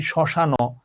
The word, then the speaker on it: শ্মশান: আমি যদি এটা উচ্চারণটাতে না, মানে আমি যদি শ্মশান এমন হইতো, যদি আমি ওখানে হসন্ত না দিতাম। এটার উচ্চারণ কি শ্মশান? এটার জন্য শ্মশান না, এটার উচ্চারণ শ্মশান।